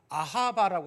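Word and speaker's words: אהבה: 히브리어에서 사랑 그러면 다 무슨 뜻이, 히브리어로 발음이 어떻게 되냐면 아하바라고 합니다. 아하바.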